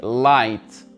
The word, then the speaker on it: light: prononce pas pareil ici light light g h il ne se prononcent pas et quand je vous